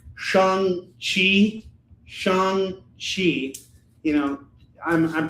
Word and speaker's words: Shang-Chi: It's called Shang-Chi. Shang-Chi. You know, I'm pronouncing it Shang-Chi.